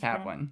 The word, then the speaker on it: Kaplan: I would have given it a 9 out of 10, but without Kaplan's character, Kaplan, whatever, how do you say Kaplan.